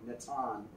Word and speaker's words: Nathan: Character that I sometimes do on Instagram named Natan. And Natan is N-A-T-H-A-N is the way it's spelled, like Nathan.